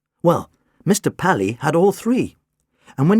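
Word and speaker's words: Palis: P-A-L-I-S, pronounced Pally.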